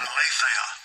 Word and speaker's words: aletheia: 225 ALETHEIA. Let's see if we can get it to pronounce it. Strong's G 225 Aletheia. Aletheia.